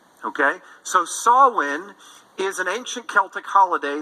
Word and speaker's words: Samhain: holiday an ancient celtic holiday it's not produ pronounced samhain it's pronounced sawwin okay so sawin is an ancient celtic holiday that is thousands